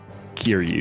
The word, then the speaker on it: Kiryu: Kiru.